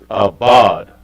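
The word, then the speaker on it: אבד: Abad. A, ba, and da.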